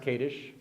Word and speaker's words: Kadish: to Rachel Katie's talk about her book it's pronounced kadish I understand not cottage caters so but it comes from the word